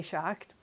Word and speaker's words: Schacht: I took German in high school, so Schacht would, I think, be the correct pronunciation of that. So that's why I say Schacht.